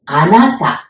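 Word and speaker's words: あなた: Japanese so that is anata Anna like the girl's name Anna but it's okay and as in Tangles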